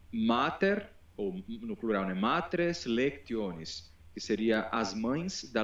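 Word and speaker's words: matres lectionis: algo como o eh como as matres lectones ou que a gente pode pronunciar portuguesando como matres lexiones, não havia representação nenhuma de qualquer vogal, era só eram só consoantes.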